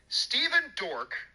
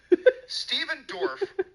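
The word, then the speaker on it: Stephen Dorff: already did okay good steven dork oh i'm sorry i mispronounced that stephen dorf called black widow a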